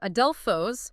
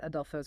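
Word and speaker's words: ἀδελφός: So adelphos, brother, has an acute if it's alone. But if you say adelphos kai, brother and fe, that acute changes to a grave. Pronounce adelphos versus adelphos kai. It just levels the tone out a bit.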